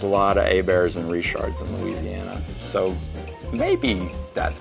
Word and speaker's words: Richard: If someone's last name is Richard, it's Richard. It's not Richard. And if someone's last name is Herbert, it's Abear, not Herbert. And there's a lot of Abears and Richards in Louisiana.